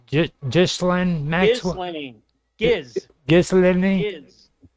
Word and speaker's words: Ghislaine: Ghislaine You also know what the had a guys found?